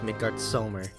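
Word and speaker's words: Midgardsormr: the way they pronounce the s in midgard summer as a z infuriates me because they never pronounced mcgirt silver the same way ever again literally after a roamer born i always refer to him as midgard summer nice pronounce it as with that s not a z actually i think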